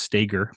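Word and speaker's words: Stoeger: want to push that performance Ben Stager it's pronounced Stager but it's pron that's spelled s o e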